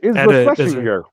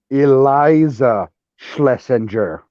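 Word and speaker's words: Iliza Shlesinger: Yeah, it's Isla Schlesinger.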